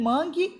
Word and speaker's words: mangue: Na questão 15, que diferença é possível perceber entre o uso de u em mangue e u de guardei? Mangue. O u não é pronunciado. Guardei. O u é pronunciado.